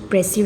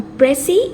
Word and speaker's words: précis: So today we will study about précis writing. Let's go to its definition first. A précis, a French word pronounced as précis.